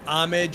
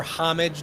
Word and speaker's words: Homage: I will rock an Amage or Homage, depending on how you want to pronounce it, t-shirt here and there.